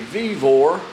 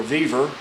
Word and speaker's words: VEVOR: okay vivor or viver however you want to pronounce it a lot of people say vivor I don't know sent